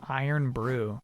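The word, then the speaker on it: Irn-Bru: It's pronounced Iron Brew.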